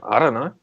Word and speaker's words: IDunnö: How do you pronounce the name? Just IDunnö. Yeah, what's your band name? I don't know.